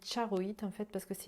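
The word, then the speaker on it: charoite: ensuite vous avez alors ça s'écrit chars au heat mais ça se dit charreaux it en fait parce que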